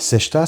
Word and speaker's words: sexta: un vendredi et on le prononce comme si on dit sèche ta serviette donc sèche ce qui s'écrit sexta et donc cette chienne